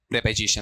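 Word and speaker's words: preposition: बताओ इसका उच्चारण क्या रहेगा? बोलो देखें। क्या पढ़ोगे इसे? प्रीपजीिशन या प्रेपजीशन? प्रपजीिशन।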